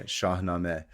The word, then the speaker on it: Shahnameh: Shamina, right? Yeah. Shahame. Shaame.